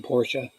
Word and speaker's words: Porsche: a pointer named porsche why i call it port but it's the actually pronounced porsche p-o-r-s-c-h-e porsche and then and